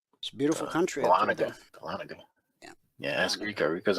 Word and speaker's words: Dahlonega: That's pronounced Dahlonega. Dahlonega.